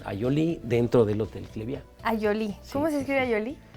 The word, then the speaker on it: Ayolí: Ayolí. ¿Cómo se escribeí? Ayolí con y acento en la I, la última.